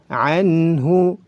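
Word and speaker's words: عنه: Anhu, anhu, nun sukun bertemu dengan ha, maka dihukumi izhar halqi.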